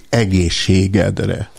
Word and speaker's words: egészségedre: Quando dizemos a saúde, brindamos assim a mesa, dizemos egészségedre. Por favor, uma boa pronúncia.